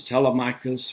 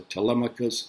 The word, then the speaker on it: Telemachus: behind that infant son name is Telemachus or Telemachus either pronunciation is correct now 20 years later